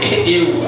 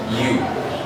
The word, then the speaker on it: ewe: Some call it ew, I don't know. But the fact remains that this word is pronounced the same way we pronounce the word you.